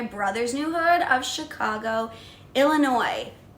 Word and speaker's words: Illinois: Hood AKA my brother's new hood of Chicago Illinois s a silent guys stop saying it like